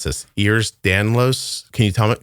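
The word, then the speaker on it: Ehlers-Danlos: on Reddit where people with I'm going to mispronounce this ears danlos can you tell me say that for me oh yeah ERS Danos okay there's a whole group of people that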